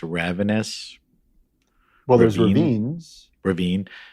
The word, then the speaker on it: Ravines: I mean, how do you pronounce it? Ravenous? Well, there's Ravine? Ravines. Ravine. Yep. There's Ravines.